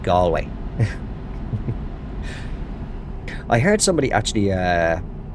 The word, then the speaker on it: Galway: Americans that visit Ireland, but it's it's not pronounced Gway. It's pronounced Gway.